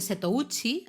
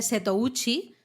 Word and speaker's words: Setouchi: Entonces se habla de la región de Setouchi, o sea, el mar interior de Seto es el mar, el agua, ¿no?